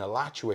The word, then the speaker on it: Alachua: There's my pronunciations. I'm in Alachua here in Florida.